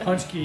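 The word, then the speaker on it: pączki: Punchki, yeah, the Polish, yeah.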